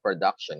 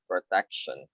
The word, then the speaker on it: protection: also said production um it's not production it's protection protection production production no no